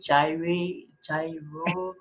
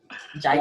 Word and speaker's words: Gyre: So it's pronounced, like a German, but ya, like, yeah, Jaya.